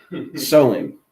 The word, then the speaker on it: Samhain: It's spelled like if you were to read it phonetically, Samhain, but it's actually pronounced Soin. They don't even know how to spell Soin, right? But I'm gonna call it Samhain just for you know